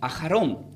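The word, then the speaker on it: אחרון: la palabra lo último, se pronuncia como ajarón, que tiene una raíz de la palabra ajar.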